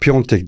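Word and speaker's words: Piątek: Almanya'dan tanıdığım piontek oynayacak piontek deniyor piontek şeklinde okunuyor Bunu biz Bundesliga yorumlarken de çok sıkıntısını çektik niye pch diye bir daha söyleyeyim alta da yazmayın diye piontek okunuşu bu Başakşehir'in 11'i burada kritik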